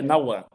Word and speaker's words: Nauan: É Nauan. Naan. Então não tem o R na sonorização do H.